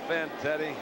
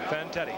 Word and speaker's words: Fantetti: Was that Van Teddy or how do you say his name? Vanetti. Fantetti. Yeah. Ken Fantetti.